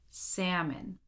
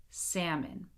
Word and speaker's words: salmon: So in all of these words here, the L is silent. Do not pronounce it. Here we go. Would, should, could, walk, talk, half, chalk, salmon. Again, would, should, could, walk, talk, half, chalk, salmon.